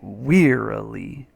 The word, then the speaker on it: wearily: When we see words in all capitals with a pronunciation, that tells us we emphasize that syllable. So here are the syllables, wearily. You emphasize this one though, so you say wearily, wearily.